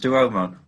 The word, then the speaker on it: Duomo: I'm sure it's pronounced Duomo, but then that's just me being pedantic.